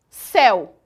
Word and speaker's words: céu: o caso do monossílabo céu. Percebam que a palavra céu, a pronúncia dela é imensamente aberta.